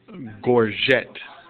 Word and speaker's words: gorget: a large scale replica of a gorget pronounced Gore jet gore Jets were worn